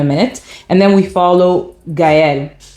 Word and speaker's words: Gaëlle: And then we follow Gaëlle. Gail, I guess that's how you say it in French, but in English, but in French it's Gaëlle.